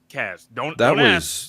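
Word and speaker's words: Kacmarek: Kazmarek. And there is not a Z right there. It's K-A-C, but it's Kaz.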